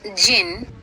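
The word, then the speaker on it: jinn: us now word meaning pronounced jin and variously spelled as g-e-n-i-e g-e-n-i-i j i n n e e d j i n n i d j i n n y which means a spirit that has strange powers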